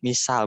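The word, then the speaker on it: مثال: Ya, tapi di bahasa Arab bukan pakai sin, misal bukan, tapi pakai sa. Misal, al-misal.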